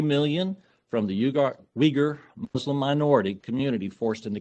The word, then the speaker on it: Uyghur: It is spelled Uyghur, but it is pronounced Uyghur, or at least that's how I butchered the pronunciation. I may have the emphasis on the wrong syllable there.